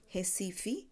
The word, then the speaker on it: Recife: place Recife r-e SCIF II which again the pronunciation tells Metis Hesse fee according to the Brazilian and capibaribe river so